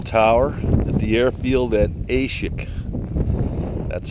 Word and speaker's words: Aishihik: the old control tower at the airfield at ASIC that's how it's pronounced it's not pronounced Ashley hiccup incorrect several times when you come that way